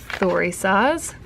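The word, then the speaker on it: Thurisaz: Okay, so the pronunciation is Thorisaz.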